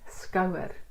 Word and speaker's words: skouer: And please note, when you hear the word skouer, you hear two syllables, skouer. And that skou is that first part after the syllable breaks or it's chopped off after the diphthong O.